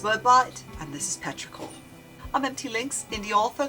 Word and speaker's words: petrichor: Petraor, pronounced Petraor, is a term for the earthy scent produced by the rain when it falls on dry soil.